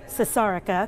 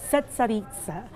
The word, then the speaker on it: Cesarica: The waitress told me how to pronounce it because I was calling it Cesarica because, you know, I'm American, don't know how to pronounce anything. Cesarica.